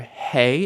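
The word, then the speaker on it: הא: your throat H and hey has a hole and it makes the same sound as the H at the beginning of hole too H hey has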